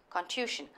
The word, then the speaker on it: contusion: Contusion is pronounced like confusion. Contusion.